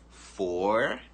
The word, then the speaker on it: forehead: Forehead, forehead. Você praticamente não pronuncia esse E aqui.